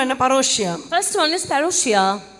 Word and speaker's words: parousia: முதலாவது பரோஷியா பரம என்ன பரோஷியா first one is parousia p a r o u s i a parousia parousia this is how the word parousia